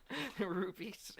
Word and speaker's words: rupee: Rupees.